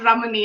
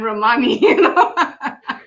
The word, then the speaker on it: Ramani: this of this space he hated the fact that her surname was pronounced uh mispronounced all the time what do was it pronounced what was it pronounced as ramani and she was constantly interject from the back i'm not ramani i'm romani well priyad romani what